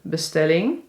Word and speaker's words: bestelling: Of een vervelende bestelling, dus een annoying order. Vervelende, die hadden we al gezien. Bestelling, dus de klemtoon is op stel, dus bestelling.